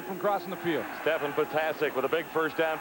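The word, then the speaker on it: Ptasek: Talked to Patasic before the game, and I said, so how do you say it? He says, pronounce them all. And it's spelled P-T-A-S-E-K, Patasic.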